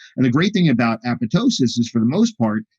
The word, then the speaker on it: apoptosis: and there's apoptosis apoptosis a lot of people mispronounce this apoptosis but the second p is actually silence apoptosis and uh apoptosis is